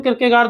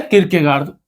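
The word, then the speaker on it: Kierkegaard: किरकेगार्द। किर के गार्ड कई बार इस पर छोटी मात्रा भी लगा देते हैं।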